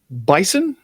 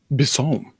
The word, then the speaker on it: Bisson: You might know her as Mychele Bisson, but her real pronunciation is Bisson. It's French.